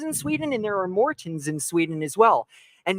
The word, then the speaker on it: Maurten: And that A is pronounced O-A-R. So it's Maurten.